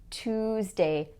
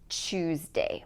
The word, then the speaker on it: Tuesday: But in many other dialects, including North American English, we say Tuesday, not Tuesday. It's Tuesday.